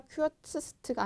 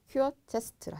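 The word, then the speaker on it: kürzeste: 그 쿼츠 하시고 최상급이 어떻게 한다? 큐어츠스트가 아니라 큐어체스트라 하시면 되겠죠.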